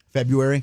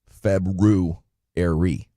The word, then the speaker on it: February: the word February okay February there is an R after the B February so say like say